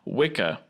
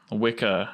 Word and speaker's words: Wicca: much for some reason old english has a couple of things that we see in common with good old italian where it'll make a cha sound in most scenarios and so wicca as it's commonly pronounced